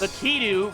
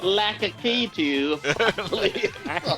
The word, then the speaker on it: Lakitu: Lakitu, because you showed me the pronunciation.